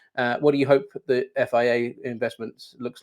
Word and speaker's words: FIA: But if we fast forward to this time next year, autumn 2026, what do you hope the FIA investments looks like, or FIA investments look like? How do I pronounce it, by the way?